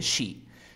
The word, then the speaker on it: she: Sí. Appreciated. ¿Cómo sería con la regla? And she appreciated. Pero aquí pronuncia she. She appreciated. She appreciated. Aquí no digas sí, sino di she.